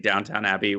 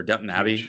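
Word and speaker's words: Downton Abbey: We have Weathering Heights and I think Downtown Abbey was um or Dun Abbey, I think is how you pronounce that, is uh filmed their finale in Yorkshire.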